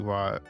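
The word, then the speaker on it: は: Yeah, it would be like Watashi wa Tomato O Abemasu, I think. Yeah, you write wo, but it's pronounced O. You sure do. Write ha for wa.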